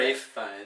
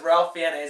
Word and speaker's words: Ralph Fiennes: Rafe Fiennes. Rafe Fiennes. I always knew him as Ralph Fiennes. That's how it's spelled. Me too.